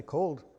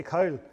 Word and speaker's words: cold: Oh, well, I say cold. Or I can say cowl.